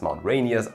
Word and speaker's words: Mount Rainier: Wenn man sich die Geschichte des Mount Rainiers anschaut, dann wird man erstmal feststellen, ja, Mount Rainier ist tatsächlich die richtige Aussprache.